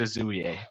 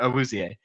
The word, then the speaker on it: Awuzie: I said Azuie, but Awuzie.